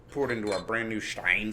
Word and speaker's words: Stein: into our brand new Stein Stein I guess it would be Steen if you were pronouncing it correctly all right Pro do